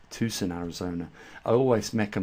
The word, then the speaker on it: Tucson: I read it as Tucson, Arizona, but it's apparently pronounced Tucson, Arizona.